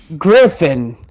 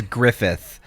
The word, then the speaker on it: Griffith: name um gesu grith Griffin I was Griff it's Griffith GTH I was going to